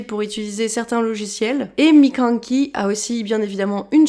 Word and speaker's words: Mikankey: Et aujourd'hui, pour ce premier épisode depuis très longtemps, j'accueille, alias Mikanki. C'est ça. Yes, j'ai bien prononcé.